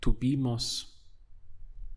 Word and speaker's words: tuvimos: For we had, it would be tuvimos. We have 3 syllables.